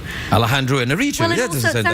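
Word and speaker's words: Alejandro Iñárritu: I'm not exactly sure whether I get the pronunciation right every time, but it's Alejandro Inarritu. Alejandro Inarritu.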